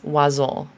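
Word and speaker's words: oiseaux: And the way this word is pronounced is oiseau.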